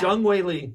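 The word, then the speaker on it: Zhang Weili: How do we say her name? Oh, Jung Wei Lee, or I think her. it's Jung Wei Lee.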